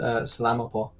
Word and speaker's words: salamat po: It's salamat po.